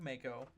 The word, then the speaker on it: Mako: Also, there's a voice actor named Mako. Whatever. Named after. Spelled like Mako. Spelled M-A-K-O. But his name is Mako, like the taco.